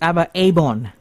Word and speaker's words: ABBA Abborn: Abba abor to Malaysia okay so it's ABA abon yes right I I I was pronouncing incorrectly abon what does abon mean